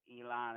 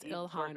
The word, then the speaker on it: Ilhan: Elon Omar. Her name is Ilhan Omar.